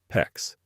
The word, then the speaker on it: PEX: PEX rhymes with flex.